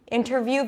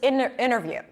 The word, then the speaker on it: interview: So when the T appears after an N, it can drop. I'm saying can because a lot of Americans will still pronounce the T, interview versus interview.